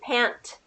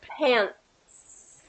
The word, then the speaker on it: pants: into the S so you don't say pant but you go pants pants okay versus pans pans